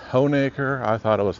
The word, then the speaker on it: Honaker: We're in the historic downtown of, as I understand, it's pronounced Honeacre. I thought it was Hanukker, but I was wrong.